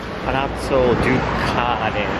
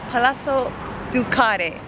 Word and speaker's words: Palazzo Ducale: Is that how you say it? Palazzo Azabu? Palazzo Ducale. Oh, Palazzo Ducale, which is a venue I have been scoping out for quite a bit now.